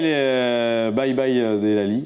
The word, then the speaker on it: Delali: Bye bye Delali. Bye bye Delali. Ouais. On prononce bien, c'est très bien.